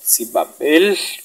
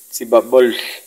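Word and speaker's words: sibʼäq: Veamos esa A al final con dos puntitos. Es una, lo que se llama una A relajada. Eso se puede pronunciar en algunos lugares como Sibabel, casi una E. Sibabel, entre A y E, pero apretando los dientes, Sibabel. Y en algunos lugares se dice, yo he escuchado, Sibabol, Sibabol. Pero eso es indiferente. Estamos en la ciudad y vamos a decir Sibabel.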